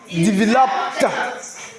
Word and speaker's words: developed: Ensuite, on a develop. Donc, ici, le ED va se prononcer T. Donc, on va dire quoi? Developed.